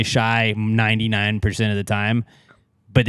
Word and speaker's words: Shai: what everybody calls him his name is spelled s h a i that's why I said shy but I always say shy too like so you're not wrong but I like correcting